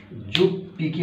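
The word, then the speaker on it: 十匹: 10টা যদি হয় তাহলে কি হবে, জু মানে 10, জু যোগ হিকি, যোগ হিকি সমান কি হয়, যুগ পিকি হয়ে যাবে, এখানে জু হিকি, ইচি হিকি, ইপ পিকি, জু হিকি জুপ পিকি হয়ে যাবে।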